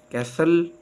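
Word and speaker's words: castle: देता जैसे eyelet oil silent T टी इज not pronounce in this common words दरदर अल्फाज में टी आवाज नहीं देता जैसे कैसल फास्ट fashion listen on ससल विसल silent W डब्लू इज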